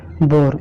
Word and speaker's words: boar: ठीक है, नियम नंबर 18 देखिए ओ के बाद अगर आपका ए आए तो वो ए आपका क्या होता है? साइलेंट होता है। जैसे एग्जांपल देख लीजिए BOAR, क्या पढ़ते हैं इसे? बोर। इसका मतलब होता है जंगली सुअर।